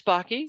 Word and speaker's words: Backe: sure so I'm Bakke uh my last name rhymes with hockey um I like long